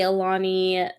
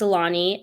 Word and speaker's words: Alani: I think it's pronounced Alani energy drink, and Witch's Brew is like a green apple caramel, and I'm obsessed with it.